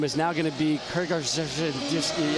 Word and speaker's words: Krzyzewski: my last name is now going to be Krzyzewski? How long did it take her parents to Wow. How do you pronounce that again? You like that? How is that? Krzyzewski.